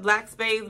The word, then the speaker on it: BLVCK Spades: Shout out to them because I didn't want to mispronounce their name, but I guess it's pronounced Black Spades, but it's BLVCK Spades.